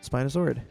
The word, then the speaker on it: spinosaurid: So, the reason why I bring it up, Spinosaurus aegyptiacus is not my favorite spinosaurid. Yeah, I know, spinosaurid or spinosaurid Spinosauridae Spinos- Spina- Spinosaurid. That's the proper way to say it.